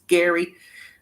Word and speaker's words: Gerry: Turner, a 71-year-old grandpa from Indiana, whose first name is pronounced as Gerry, was unveiled as The Golden Bachelor's leading man